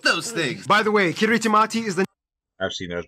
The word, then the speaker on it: Kiritimati: By the way, Kiritimati is the native way of pronouncing Christmas.